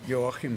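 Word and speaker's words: Joachim: good evening everybody I'm your him hi in but everybody calls me because the German pronunciation of your him it's difficult my wife Maria is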